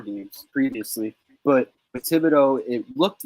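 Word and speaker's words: Thibodeaux: The Giants rookie, T-backs, right? Yeah, Kayvon Thibodeau. Thibodeau. I got his name wrong.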